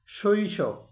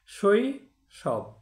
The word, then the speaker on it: শৈশব: আবার এখানে একটা ব্যতিক্রম আছে, শৈশব। এখানে সইটা ঠিক আছে, স তালবস্যের সাথে ওকার যোগ হয়নি, এখানে তালবস্যটা হলন্ত উচ্চারণ হয়েছে, শৈশব।